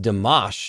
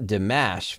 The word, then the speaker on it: Dimash: me many times in comments before that it's pronounced dimash not dimash and I think that uh some people get